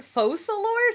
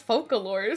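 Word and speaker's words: Focalors: failed to take action that's how you pronounce it falor I thought it was focalor for so long it's hard to believe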